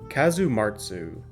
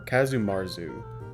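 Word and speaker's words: Casu marzu: covering a cheese called kazum marsu or kazum marzu I guess depending on how you spell it if you spell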